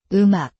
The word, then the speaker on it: 음악: For example, 음악, music links its batchim over and sounds like 음악, you write, 음악, but you read. 음악.